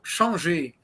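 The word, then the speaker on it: Changez: His name is, if you pronounce as if he were a Frenchman, is Changé.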